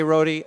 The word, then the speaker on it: Rohde: biography on Michael Cortese my last name's pronounced Roadie not wrote but you know I well there you go oh my gosh Alan K Rohde I'm Manny Pacheco forgotten